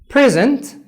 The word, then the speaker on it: present: ناخد كلمة present ممكن تيجي بمعنيين على حسب الستريس بتاعك على السيلابل المعين. لو جينا بصينا لكلمة present it's P-R-E-S-E-N-T. present لو انا عملت stress on the first syllable يعني على المقطع اللفظي الأولاني اللي هو pre على P تحديدا، present هدية.